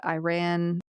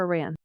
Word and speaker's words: Iran: think like in India Iran is it Iran or Iran Iran Iran if you're going to pronounce it correctly oh thank you I